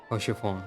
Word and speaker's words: Haurchefant: Haurchefant. We didn't pronounce the T that time.